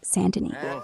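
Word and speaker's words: Saint Denis: a bust goo streaming chapter 6 sandin Saint Denny pronounced sandin near max honor 95% 50% store by discount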